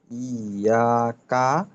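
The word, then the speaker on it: إياك: ইয়া, তারপর কাফ জবর কা, ইয়া কা, নুন। আচ্ছা, উচ্চারণটা কিন্তু আরেকটু স্পষ্ট, ইয়াকা না বলে ইয়াকা, এমন।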